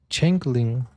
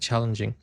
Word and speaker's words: changeling: According to folklore, a changing, a changling. Oh, that's how you say it. Changling. I said challenging.